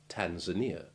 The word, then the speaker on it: Tanzania: way to avoid mistakes first some true long i3 examples the relevant letter being in italics where there is more than one i in a word rio trio beer real pizzeria tanzania nicosia fiat and we mustn't forget that delicious liqueur tia maria and now for some